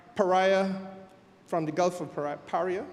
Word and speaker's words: Paria: from the Gulf of Paria. Is that correct pronunciation? Paria. I don't want to say they are Pariah, because that's a different thing.